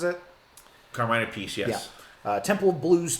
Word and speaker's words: Carmine Appice: Appice, is that how he pronounces it? Carmine Appice, yes.